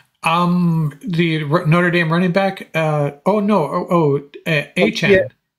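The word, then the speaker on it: Achane: Achan. Yeah, Achan.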